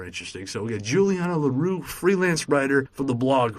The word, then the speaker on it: L'Heureux: So Juliana L'Heureux is how it is. Yeah, that's fine. Perfect. Gotcha. That's L'Heureux. People know me by that, and it is a difficult name to pronounce in French, but it has a literal translation.